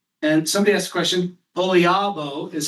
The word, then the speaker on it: OLIABO: And somebody asked a question, Olabo is how we pronounce it. Olabo.